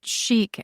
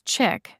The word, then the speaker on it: chic: I once worked with someone who mispronounced chic as chick, and I disliked her so much I never corrected her.